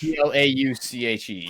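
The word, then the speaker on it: Plauché: How do you spell it? P-L-A... It automatically popped up for me. P-L-A-U... Yeah, Plauche. Plauche, yes.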